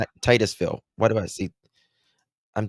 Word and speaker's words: Titusville: She is 18year-old high school senior from how do you pronounce it? Is it Tootszville? I always mess it up. Florida. Titusville.